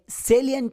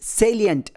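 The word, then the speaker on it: salient: ಐ ಇ ಎನ್ ಟಿ ಈ ಪದದ ಸರಿಯಾದ ಉಚ್ಚಾರಣೆ ಸೇಲಿಯಂಟ್ ಅಂತ ಬರುತ್ತೆ ಇದೊಂದು ತ್ರೀ ಸಿಲಬಲ್ ವರ್ಡ್ ಸ್ಟ್ರೆಸ್ ಇರೋದು ಫಸ್ಟ್ ಸಿಲಬಲ್ ನಲ್ಲಿ ಲೆಟ್ರಿಯಸ್ ಅನ್ನು ಶಬ್ದ ಬಳಸಿ ಲೆಟರ್ ಎ ಅನ್ನು ಎ ಶಬ್ದ ಬಳಸ್ತೀವಿ ಸೇ ಅಂತ ಆಗುತ್ತೆ ನೆಕ್ಸ್ಟ್ ಅನ್ಸ್ಟ್ರೆಸ್ ಸಿಲಬಲ್ ಎಲ್ ಆದ್ಮೇಲೆ ಲೆಟರ್ ಎ ಅನ್ನು ಇ ಶಬ್ದ ಬಳಸ್ತೀವಿ ಲಿ ಆಗುತ್ತೆ ಸೇಲಿ next again third syllable ಅನ್ಸ್ಟ್ರೆಸ್ syllable letter E ಅನ್ನು ಶ್ವ ಸೌಂಡ್ ಅ ಬಳಸಿ ಅಂಟ್ ಅಂತ ಉಚ್ಚಾರಣೆ ಮಾಡ್ತೀವಿ ಸೇಲಿ ಪ್ಲಸ್ ಅಂಟ್ ಸೇಲಿಯಂಟ್ ಹೀಗೆ ಉಚ್ಚಾರಣೆ ಬರುತ್ತೆ ಸೇಲಿಯಂಟ್ ಅಂದ್ರೆ ಪ್ರಮುಖ ಅಂತ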